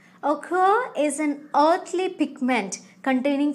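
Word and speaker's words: ochre: e although the spelling is like this the pronunciation is occur occur is an earthly pigment containing furic oxide here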